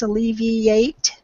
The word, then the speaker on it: alleviate: and I think where it got lost in the pronunciation was the IA towards the end. So if you can concentrate on making sure that you pronounce both of those, it's alleviate.